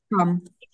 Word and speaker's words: come: Окей, good, тільки не ком, а в нас це кам. Come.